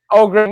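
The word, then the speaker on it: Öhgren: Jim, how do you pronounce the Odrin? Ogren.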